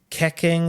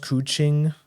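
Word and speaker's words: Keqing: actually pronounced Chi-Chi or how Keking is actually pronounced Cuching.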